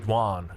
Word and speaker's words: Yuan: So this is the Imperial Guard and the Yuan Raider. I should probably pronounce that the Yuan. You really want to be quick with that.